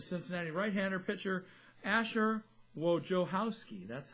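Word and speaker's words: Wojciechowski: Cincinnati right-hander pitcher a sure Wojo house key that's how the pronunciation says in the pronunciation guided big long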